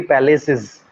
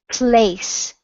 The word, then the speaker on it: place: So I wanna go three palaces.